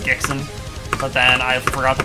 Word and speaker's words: Gixon: Well, actually for like a month I was GIX Oo N, but it was still pronounced Gixon.